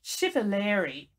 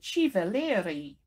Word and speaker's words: Civalleri: unusual last name which Americans will pronounce Steven Leary but the Italians will say Shiva Leary and so I'd like